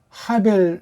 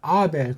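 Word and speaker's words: הבל: 그래서 이게 하벨, 이렇게 하벨이라고 번역해서 해야 되는데 서양 아이들이 해에 대한 감각이 없다 보니까 이거 그냥 묵음 처리해서 요거만 갖다 쓴 거예요. 그래서 아벨.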